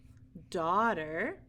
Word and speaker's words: daughter: don't hear that H daughter we don't hear the H and daughter or the G and in sum we